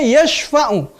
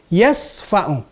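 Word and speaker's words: يشفع: Seharusnya yashfa'u, artinya yang memberi syafaat. Tetapi ada orang membacanya yasfa'u, artinya yang memberi tempelengan.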